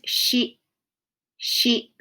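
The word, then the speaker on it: 四: The other name for this number is shi, shi, shi.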